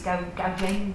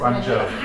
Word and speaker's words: Guangzhou: we've got some link-ups with, I think it's Gaojin project, I can't pronounce it. Guangzhou.